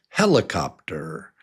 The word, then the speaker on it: helicopter: Yeah, it's helicopter. So number 1 is the strong one, and it's 4 syllables.